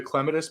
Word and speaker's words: clematis: people in the United there's another way people say it, but I say it like the British do because that's just the way I've always said it. Clematis, people say maybe.